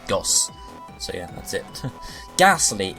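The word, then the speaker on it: ゴース: the naming for Gastly it's Japanese name gos is basically just from Ghost it's ghost without the tea that's how it's spelled and it's pretty much said the same way gos so yeah that's it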